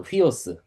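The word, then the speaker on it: υἱός: 휘오스.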